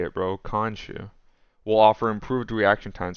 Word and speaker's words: Khonshu: Khonshu.